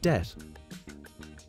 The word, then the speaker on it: debt: The B is also silent in words like plumber and debt.